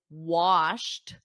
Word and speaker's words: washed: last weekend two guys washed washed so notice that pronunciation because we have wash that's the base verb to wash but then in the Ed the past simple it's a very soft te washed washed everybody repeat